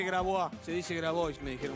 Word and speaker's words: Grabois: Se quedan en la pantalla 9 con Viviana Canosa y nada personal, Juan Grabois, no se dice Grabois, se dice Grabois, me dijeron, bueno, lo digo así.